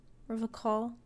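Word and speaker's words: Revachol: But someone has to stay strong for Revocol. Revocol? He pronounces Revocol with a hard K, unlike other people.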